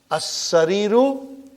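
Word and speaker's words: السَّرِيرُ: And in as-sariru, I only pronounce hamza. And I did not pronounce the lam.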